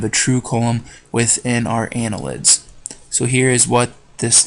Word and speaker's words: annelid: defining features of and Anela did or annelids Arya nila did annelid is how you say that I'm sorry Ana lid so annelids are worms